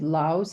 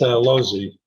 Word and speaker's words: Laus: a case from Laus. Is that how you pronounce it, sir? It's Losey. Losey.